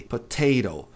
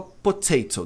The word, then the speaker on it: potato: Então, se o T está numa sílaba forte, não mexa com ele. Mas se não tiver, você pode transformar em re potato. Porque o americano ou americano fala potato dificilmente, tá?